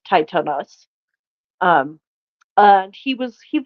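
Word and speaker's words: Tithonus: titanos titanus um it it's spelled tonus but it's titanus um and he was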